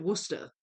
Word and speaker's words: Worcestershire: Yeah, I mean, it says Worcestershire, like the county, but I've always pronounced it Worcester.